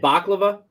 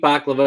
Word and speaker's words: baklava: and half Mexican and she always told me that was actually pronounced by Laila is that true I don't know I call it baklava so if you so